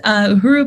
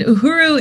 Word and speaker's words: uhuru: 100 commitment um and then pete in oakland uh uru pete you donated 200 thank you so much